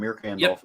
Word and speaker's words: Mirka Andolfo: Day, and this is Mirka and I can't pronounce her name right. And Andolfo. You said it right the first time. Mirka Andolfo.